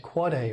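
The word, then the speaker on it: AAAA: surprised to learn that there's an AAA it's pronounced quite a record that's the IPv6 address of a host the quad a name was chosen simply because the length of an IPv6 address is four times as long as an ipv4 address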